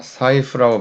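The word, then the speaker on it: 財布: 자, 사이프라고 발음합니다.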